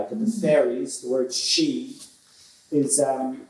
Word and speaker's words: sídhe: I argue now, that the fairies the word 'sídhe' is ahm, it's you know it's spelled s-í-d-h-e or s-í-d-e, s-í-d-e in Old Irish, s-i-d-h-e in Middle Irish which is 'Shideh' to pronounce it.